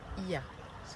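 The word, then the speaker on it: Oia: Non, ça se dit pas Oya, ça se dit Ia. On prononce pas le O.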